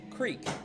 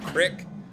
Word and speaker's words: creek: I can tell you we pronounce it creek. Creek. Creek. Yeah. Yeah. He does say wash. And no one on this stream pronounces it crick.